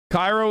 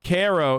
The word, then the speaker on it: Cairo: that there isn't one cairo illinois is pronounced cairo instead of cairo wait really wait how